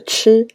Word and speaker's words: 吃: practice with me ready let's memorize the character chi with our hanzi image to the left of